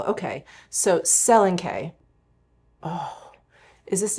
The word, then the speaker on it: Selenkay: Can I Let me look that up. Okay, the stress falls primarily on the first syllable. Okay, so Selenkay.